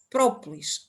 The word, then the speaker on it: própolis: português disso própolis escreve própolis a resina a substância própolis é assim que se escreve com o acento tónico no no primeiro o por isso a e